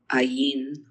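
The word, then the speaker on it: ע: Okay, here we go, another one of our silent letters. It's not a Y. Ayin. That is your ayin. It's that in the aleph that have no sound at all.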